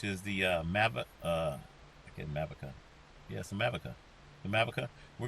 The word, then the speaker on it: Mavica: he pronounced it in movika and it's mavica it's america america yeah anyway i think